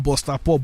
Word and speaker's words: BustaPop: Okay so I get this guy now half Ghanaian half Nigerian and of course they call him Booster Pop but the real pronunciation booster pop.